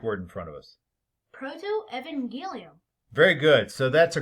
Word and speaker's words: protoevangelium: the bible yeah so clayton how do you pronounce that greek word in front of us proto-evangelium very good so that's a greek word meaning